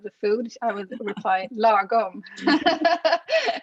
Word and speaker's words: lagom: And there was another article that said 3 ways the Swedish concept of lagom will revolutionize your creative agency, and lagom indicates the importance of balance among a group or team.